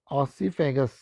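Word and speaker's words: oesophagus: Pronunciation का ध्यान रखेंगे, ऑसीफेगस। अगर प्रोनाउंसिएशन में कहीं दिक्कत हो रही हो तो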